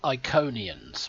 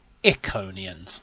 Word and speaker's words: Iconians: She just said Iconians, which reminds me of what Garrick said. He said Iconians. So he pronounced it in the British way, whereas everybody else pronounced it in the American way.